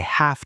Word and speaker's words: have: I have to feed the dog. Hard f sound. She has a book. Soft Z sound has. She has to read it. Hard S sound has to. This small pronunciation tip will help your listening skills immensely. When you hear that sharp F sound in have, you know an obligation is coming.